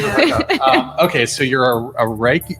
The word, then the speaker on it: Reiki: Okay, so you're a Reiki. How do you say it? Reiki? Reiki.